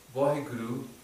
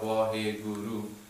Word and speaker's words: Waheguru: So the one meaning is that Vaheguru, the experience of Vaheguru is Guru.